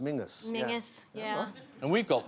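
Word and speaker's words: Menzies: and you have men's up in Scotland which pronounced Mingus Mingus yeah and we've got Menses the news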